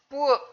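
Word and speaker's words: ពួក: 뿌억이라고 하는 말을 붙여서 뿌억 발음하실 때 주의하셔야 됩니다. 뿌억도 아니고 그렇다고 뿌윽도 아니고 그걸 어떻게 해야 되냐? 이 턱 높이를 가지고 조절을 해야 될 것 같아요.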